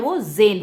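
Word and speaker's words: Zen: अंग्रेजी में 'झेंन' को Z-E-N लिखा जाता है , जिसका उच्चारण 'ज़ेन' होता है, और जापानी भाषा में इसका अर्थ ध्यान होता है।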